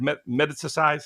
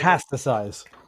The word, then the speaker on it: metastasize: me uh uh I can't say the word metasticize. How do you say metastasize?